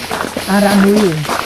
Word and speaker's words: Aramui: This one, the name is Aramui. Arami? Spell it.